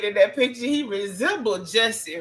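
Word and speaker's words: Jussie: No, I'm saying in that picture he resembled Jesse Rhymes with Tussie.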